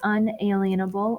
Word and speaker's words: unalienable: vocab word today is pronounced unalienable or inalienable rights I've heard it both ways and so these are